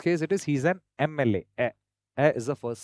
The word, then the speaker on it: MLA: When you pronounce M, the first sound that comes is which is a vowel sound, MLA.